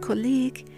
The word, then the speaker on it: colleague: In the words catalog and colleague, the U after G at the end of a word becomes silent, and the whole combination G-U-E turns to a hard G sound.